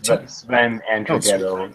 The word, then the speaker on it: Sven Andrighetto: Sven Andrighetto is the correct way to say his name.